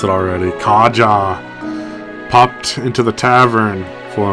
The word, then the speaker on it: Karja: Kaja, that's how you say it.